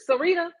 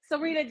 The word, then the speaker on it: Serita: TD Jake's wife name Serita. It's Serita. S E R I T A. And so then before you know it, Serita Jakes is now preaching too.